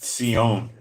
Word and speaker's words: Zion: Zion is pronounced seion.